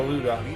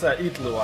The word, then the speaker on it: Itlua: Oh, we got a Luga, or a Lua. It's pronounced Itlua, actually. I've learned that I was saying his name incorrectly, and the vast majority of the community has been saying his name incorrectly.